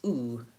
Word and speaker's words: do: So the word do, even though I spell that with an O, it's not do, it's not duh, daw, or da, it's oo. That's the vowel in blue shoe.